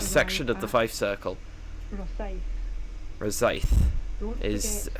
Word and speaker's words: Rosyth: Rosyth is how it's pronounced.